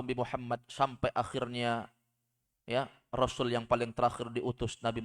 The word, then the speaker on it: rasul: Kalau setelah huruf sin ada waw, bacanya rasul. Artinya satu orang rasul. Tapi kalau datang dengan kalimat tanpa waw di tengah, rusul itu jamak, artinya rasul-rasul.